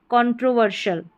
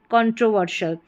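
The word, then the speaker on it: controversial: यहां पर देखिए एस आई एल है।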